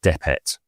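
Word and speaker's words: dpt: Um but so in order to pronounce it, we've all agreed that you put E sounds in between those consonants. So the word becomes depet, but it could mean dopot.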